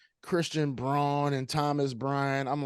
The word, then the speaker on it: Braun: thing is you know he pronounces his name Christian brown brown yeah that's right it's unacceptable I refuse it's Christian Braun you spell it b-r-a-u-n that's not brown buddy O's rw's in there my man on you know